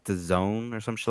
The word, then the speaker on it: DAZN: Uh I think they pronounce it like the zone or some shit like that.